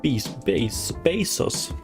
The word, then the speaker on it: Bezos: Bezos, that's how you pronounce it.